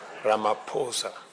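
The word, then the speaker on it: Ramaphosa: He just explained to me that uh the correct pronunciation is not what everybody else has been saying. It is Ramaposa.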